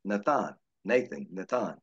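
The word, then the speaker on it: נתן: This comes from the Hebrew word pronounced Nathan.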